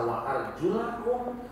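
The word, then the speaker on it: وَأَرْجُلَكُمْ: Rasul pernah membacanya dalam 2 bentuk. Sekali waktu dibaca wa arjulakum, sekali waktu beliau membaca wa arjulikum.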